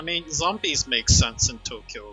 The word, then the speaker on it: Tokyo: way, I'm pronouncing it Tokyo. Um, which is the correct pronunciation. It is not Tokyo. It's supposed to be two syllables.